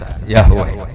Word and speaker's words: Yahweh: Ya paham ya, Tuhan Yahudi tunggal niku Yahweh, napa? Yahweh. Iku nak teng ejaan Latin Y besar A H besar W-E-H Yahweh.